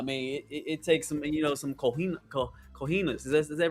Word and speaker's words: cojones: I mean, it takes some some cojones. Is that right? Did I say it right? cojones, yeah, Cojones.